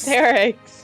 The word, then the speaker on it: Cerix: It's either Cerix or Sacris. It's Cerix? Cerix. I hate it Yes. here. You Okay. said Sacris last night and I was Dude.